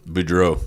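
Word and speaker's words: Beaudreault: Budro.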